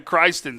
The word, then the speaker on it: Chrysten: speak to coach gray so it's pronounced christ in with it i apologize for christ i apologize he's going to make a lot of people cry absolutely christian so there we go